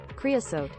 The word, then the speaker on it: Creosote: Creosote.